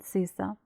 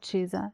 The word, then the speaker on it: CISA: decoder for Abus and sisa or cha you can pronounce because it is Italian log good quality light